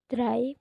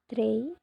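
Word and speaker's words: drei: Tiga. Dry bukan dy.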